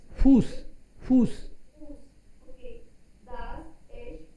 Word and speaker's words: Fuß: So इसको क्या pronounce? Fuß, Fuß.